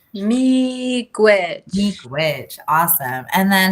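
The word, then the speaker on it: miigwech: how do you say thank you in anishinaabe meek witch meek witch thank you so much mikwich what a wonderful word i think everyone should try saying it me gwitch meek witch witch awesome and then how do i say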